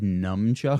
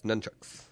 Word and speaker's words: nunchucks: it's spelled as if it's pronounced like nunchuckus, right? Yeah, it's nunchucks.